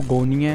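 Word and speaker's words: γωνία: इसकी जो ट्रांसलिट्रेशन है इसको प्रोनाउंस करते हैं वो गोनिया है, और इसका जो लिटरल मीनिंग है वो तो कॉर्नर ही है।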